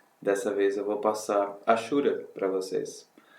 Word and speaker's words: hachura: Tem gente que fala rachura, eu prefiro Ashura. Eu pesquisei no Google, inclusive, coloquei lá no pronúncia de Ashura e disse que era Ashura e não rachura.